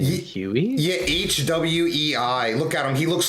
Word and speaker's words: Hwei: champ name Huey yeah hwei look at him he looks like a Hot Topic Oh you mean got him H pronounced way yeah like do you know the way way like AR the